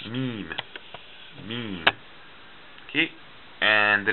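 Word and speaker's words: م: have the letter mean mean okay and the letter mean it looks like this mean and mean it makes the sound like the english letter m m okay initial meme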